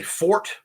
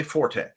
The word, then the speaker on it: forte: Some people say fort. Some people say forte. A lot of it comes from their background.